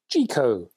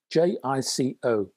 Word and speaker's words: JICO: Next, I have a high-end cartridge from a Japanese cartridge manufacturer called, and I think you pronounce it Jico, J-I-C-O.